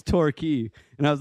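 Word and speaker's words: Torquay: When we were talking about a place in England, it's it's torquy. And I was like, "Oh, look. Let's go to Torquway."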